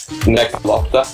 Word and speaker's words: Nekolopta: Nekolopta. To my uncultured Asian ears, I could tell no difference. No. You raise it at the end.